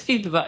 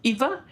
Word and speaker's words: Ilva: Iva is a very Swedish name which almost no one internationally can pronounce, but it's Ilva. It's not Iva. It's not Viva.